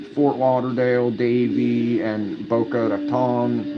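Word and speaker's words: Boca Raton: Davey and Bokeh Raton. Well, that's the right way to say it. I I think in Florida they it's Bokea Ratan.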